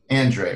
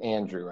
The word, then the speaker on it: Andrei: And you do pronounce it Andrei, right? It's actually Andre. On top of the world, Dre. Yeah, that's what I was. People say Andre. The only thing that's not acceptable is Andrew.